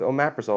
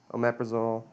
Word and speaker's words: omeprazole: you're gonna go with OMAP rizal or prilosec no I'm Parris do I have it I've been saying it wrong oh these are spelled differently omeprazole um perazol okay all